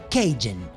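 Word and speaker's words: Cajun: esa delicia llamada Keygen se escribe kahuna así lo habrás visto pero se pronuncia Keygen y es la comida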